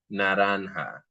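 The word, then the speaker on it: naranja: Let's notice that the J in Spanish has taken over the h sound.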